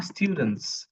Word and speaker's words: students: They R স্টুডেন্টস। Say it with me, আমার সাথে বলেন। They are students. লাস্টের এসটা কিন্তু উচ্চারণ করতে হবে।